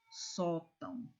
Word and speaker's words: sótão: Bênção, órgão, sótão. Vejam que a palavra, que a sílaba mais forte é a penúltima sílaba. Olha aqui, ó. Bênção. Olha como você pronuncia com mais intensidade.